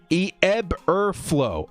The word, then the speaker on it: Eberflus: Director, it's pronounced Eberflow.